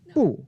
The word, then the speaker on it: 不: So there are 2 different ways to pronounce the word 不. Now in the dictionary, it's always going to be the pinyin 4th tone, 不. But then in the variation, it becomes 不, which is 2nd tone.